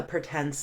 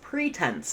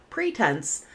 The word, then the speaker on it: pretense: Naturally, I wanted to pronounce this as pretense, and I think it might be a regional pronunciation to say pretense, but the accepted American pronunciation is Pretense. So go with that if in doubt.